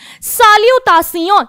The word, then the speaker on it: salutations: साल्यूटासियों, यहां पर भी मैंने एस जो है वो एंड में नहीं बोला, मैंने बोला साल्यूटासियों।